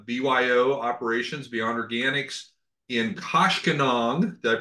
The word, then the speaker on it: Koshkonong: So Michael is with BYO Operations, Beyond Organics, in Koshkonong. Did I pronounce that right? Koshkonong. Yes, that is Koshkonong, yes.